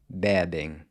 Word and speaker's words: bebem: But then it changes to an open E in the next two forms, bebe, Ele fuma, ele bebe. and bebem.